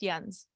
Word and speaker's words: Jens: Okay, and it's pronounced Jens, just because I've worked with him.